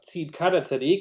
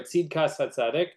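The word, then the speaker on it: צדקת הצדיק: In particular, the book of Tzidkat HaTzadik, or Tzidkas HaTzadik, depending on your pronunciation, persuasion.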